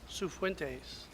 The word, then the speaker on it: Cifuentes: Recognition and retirement of Police Clerk 2, Cifuentes.